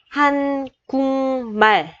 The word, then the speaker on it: 한국말: Thì chữ kiok này khi đọc mình sẽ chuyển thành chữ ngờ. Chỗ này mình sẽ đọc là hanh cung bể, hanh cung bể.